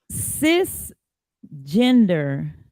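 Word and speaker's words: cisgender: as a woman so sis gender which is pronounced s-i-s gender it's a term that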